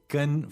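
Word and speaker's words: 根: Duì, chōu gēn yān chōu gēn yān Okay, gēn, first tone, right? Duì. So all three of those syllables are first tone.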